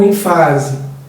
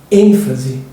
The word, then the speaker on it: ênfase: ou rúbrica rubrica eh ênfase ou enfase ênfase eh ímpeto ou impeto